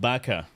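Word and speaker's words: バカ: No, it's pronounced Baka.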